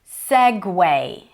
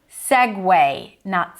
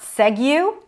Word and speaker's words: segue: This one is pronounced as segue. Segue, not segue, but segue. I don't know why there is a U there. Where is the W in the spelling?